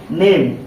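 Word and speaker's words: name: इसको हम पढ़ेंगे म लेकिन लास्ट में आए हुए ई का कोई उच्चारण नहीं करते जैसा कि हमने पहले भी आपको बताया इसका कोई उच्चार नहीं होगा लेकिन इस ए का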